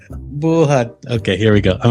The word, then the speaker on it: Buhat: Stress. Buhat. Okay. Stress on the second syllable. Buhat.